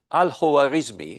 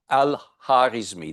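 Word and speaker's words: al-Khwarizmi: of a person and this was alismi or alh harismi depending on how it's pronounced.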